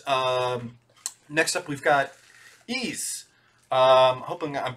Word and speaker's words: Ys: next up we've got ease um hoping i'm pronouncing that correctly i think a lot of people mispronounce it with wise but i think it's ease this is the third